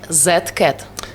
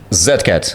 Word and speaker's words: Z-CaT: You're supposed to pronounce it like Z-CaT. Z-CaT. Yeah, exactly. That's why you hear it sounds like a rhyme. Z-CaT.